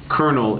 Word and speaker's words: colonel: colonel is the way you pronounce that word, and you said it in a kind of an awkward way, and I think that kind of hurts your credibility a little bit.